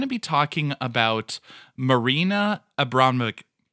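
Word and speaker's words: Abramović: For today, we're going to be talking about Marina Abramovic. Abramovic. Thank you. Longtime listeners know I cannot pronounce a name.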